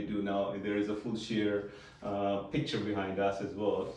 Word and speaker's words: Fulshear: What is Fulshear, by the way? Fulshear is a... Am I pronouncing correctly? You are. Okay. Fulshear.